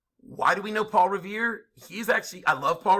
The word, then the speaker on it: Revere: midnight ride of paul revere see revere rhymes with fear near i mean so many